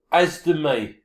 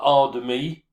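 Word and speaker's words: As de Mee: As de me, as it's pronounced, not ar de me, as de me.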